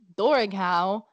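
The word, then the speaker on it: Dobharchú: He said, "I have heard at Ballyshannon, a few miles from Bundoran, the following account of the Dorighow, as it is pronounced in that district.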